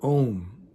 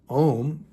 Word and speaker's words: Om: Think of the word Om as two separate words. You have two letters, O and M, two separate sounds.